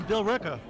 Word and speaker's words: Billerica: Some say Billerica. It's actually Bill Ricker. Pronounced Bill Ricker.